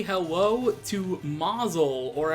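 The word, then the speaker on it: Mazaal: boss say hello to Mazal or at least I think it's pronounced Mazel because it's spelled ma z AAL which I always figured was like mausoleum that's why I pronounced it as Mazel anyway let's not get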